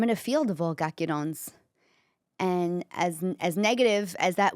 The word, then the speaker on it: Chiacchierone: So basically, okay, this is how it's spelled. The Italian word, it's Chiacchierone.